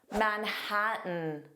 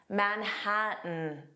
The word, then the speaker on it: Manhattan: Manhattan. Manhattan. Now, did you notice I did not pronounce those T's at all?